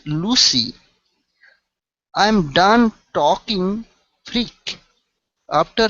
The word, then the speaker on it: Lucy: Okay, this would not be Lucky. Lucky has a C and a K. Okay, so this is Lucy, a name.